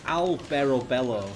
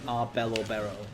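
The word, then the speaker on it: Alberobello: It's Albero Bello, it's called, but I kept saying Arbello Berro.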